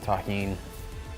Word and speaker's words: tahini: Shout out to everybody that knows the deliciousness of tahini. That's how you pronounce this.